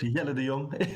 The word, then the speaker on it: Jelle de Jong: Jelle de Jong is how you exactly pronounce it here in Amsterdam, the Netherlands.